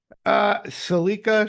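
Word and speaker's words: Saleka: Salika Shyamalan.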